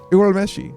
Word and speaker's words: Urameshi: Actually, I would love to hear you pronounce their last names. I actually forgot what was Yusuke's last name again? Urameshi. Urameshi.